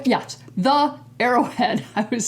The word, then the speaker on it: The Arrowhead: front of it and it's did I say hero yes the arrowhead I was saying it wrong earlier it's important